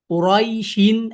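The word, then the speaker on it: قريش: ইয়া সুকুনের উচ্চারণটা হবে কুরাই, কুরাইশিন আর কুরাইশ, যেটাই হোক।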